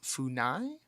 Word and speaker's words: FUNAI: There's a group in Brazil called FUNAI, and I'm probably not pronouncing that right.